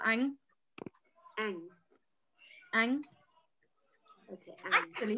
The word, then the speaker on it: Anh: The person whose name is, D-U-C-A-N-H. How do you say that? Okay. So Duke is middle name, so I think you can just use his first name. So you call Anh.